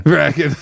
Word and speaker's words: Bracken: I don't think there's any special pronunciations of Bracken, is there? Just Bracken. Bracken. Okay. Just had to check.